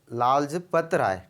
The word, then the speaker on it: लाजपत राय: ए तिलक, B Vipin Chandra Pal, सी लाल रज ला sorry लाल sorry थोड़ा सा प्रोनाउंसिएशन में प्रॉब्लम हो रहा है, तो कोई बात नहीं। लाजपत राय।